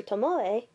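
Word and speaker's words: Tomoe: to us via a segment involving Prof Professor Tomo yeah that's how you're supposed to say his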